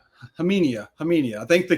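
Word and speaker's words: Khamenia: So it's like that's where my brain is, but pretty sure the K is silent for Nick.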